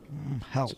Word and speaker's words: Hel: or h e l how do you pronounce that heel h e l yeah hell it's a woman oh